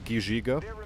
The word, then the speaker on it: Gizhiga: You would actually pronounce that Gizhiga, by the way.